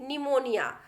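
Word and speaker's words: pneumonia: ही जिसमें वीटी था और पीएम में देखिए निमोनियां तो इस तरीके से हमने क्या किया पीठ को साइलेंट कर लिया है थे प्लैटर्स साइलेंट देखते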